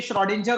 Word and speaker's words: Schrödinger: वैसे तो ये श्रोडिंजर होता है, हो सकता है आपके में स्क्रॉडिंजर या कुछ और बोल के बताएं, दैट डजंट मैटर, बट याद रखिएगा Irwin श्रोडिंजर, Irwin श्रोडिंजर वाज the name, complete name.